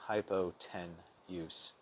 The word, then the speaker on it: hypotenuse: use, U-S-E, as in hypo-ten-use. That may make it easier to spell, but make sure to pronounce it fluidly, as in hypotenuse.